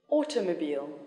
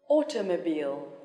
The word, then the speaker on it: automobile: complicated complicated elevator elevator ordinary ordinary television television automobile automobile critical critical here the strength is on the second syllable biology biology photography photography security security political